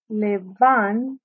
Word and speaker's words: levántate: So we're going to say levántate. And we're going to have an accent mark on the third syllable.